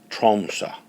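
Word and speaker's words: Tromsø: the um Norwegian language the final o on the word troma has a diagonal line drawn through it and it's pronounced a little bit like a soft a so the name of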